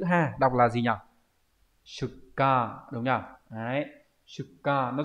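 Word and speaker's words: 出荷: Câu 20 đây là chữ xuất và chữ ha, đọc là gì nhỉ? Shuka, đúng nhỉ?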